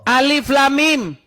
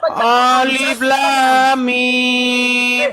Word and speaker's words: Alif Lam Mim: Alif Lam Mim. Salah. Terus apa? Orang baca itu pakai tajwid. Ya udah apa? Ngadi-ngadi. Gimana bacanya? Alif tuh enggak panjang. Coba baca masa alif kayak gitu.